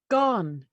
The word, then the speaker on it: Gone: says and tell him it's pronounced gone g-o-n-e and she closes the